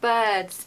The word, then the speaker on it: bird: I hear people saying beards beards which actually sounds a bit more like beards uh so be careful it's bird it's the same sound as in work that we were just talking about working weren't we that